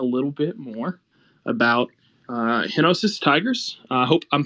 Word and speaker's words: Henosis: bit more about uh henosis Tigers I hope I'm pronouncing that right I assumed it's like genesis but hinosis is that right yes you are look at me with